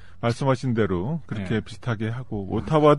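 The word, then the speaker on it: Ottawa: 대로 그렇게 비슷하게 하고 오타와 우리는 오타와라 그러는데 오라와 그래서 어딘지 잘 모르고 갔던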